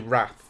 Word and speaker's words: Rath: His surname is actually Rath. R-A-T-H. Well, that's pronounced right.